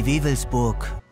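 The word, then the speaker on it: Wewelsburg: So how do you pronounce it in German? Die Waveburg.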